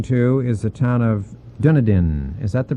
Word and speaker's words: Dunedin: Bay the Andy Bay well we both mispronounced this Dunedin Dunedin will now remember because when I get up from the table I'm Dunedin so I I keep that in my way to remember it right yeah this is